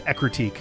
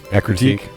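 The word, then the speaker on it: Ecruteak: A Crucheek. I, for the longest time, had no idea how the fuck to pronounce that. Was that right? I believe it is Ekruteak. Ekruteak?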